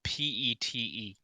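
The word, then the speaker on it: Peet: And please tell me it's spelled P-E-T-E. No, P-E-E-T. It is Pete.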